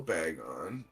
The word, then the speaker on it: Bagon: Now we're gonna take our little bag on. Or how did you pronounce it?